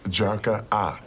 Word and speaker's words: Jarkata: It's actually pronounced Jarka-ah. All the T's in Skyfire are silent.